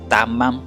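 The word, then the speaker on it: תמם: Tamam, así se escribe, traducida como integridad, completo, cabal, inocente, que tiene un estilo de vida sencillo, honorable, virtuoso, incolume.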